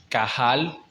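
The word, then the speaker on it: קהל: Se usa Kahal, se escribe con Q, Q-A-H-A-L, Kahal, que significa literalmente llamar.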